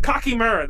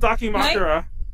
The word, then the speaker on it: dakimakura: said it right now the cocky Murr that was the word I would always say instead of dakimakura did you hear a